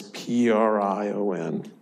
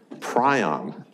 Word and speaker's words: prion: pulled out Webster's unabridged dictionary and there is PRI o N it's a bird it's a petrol bird that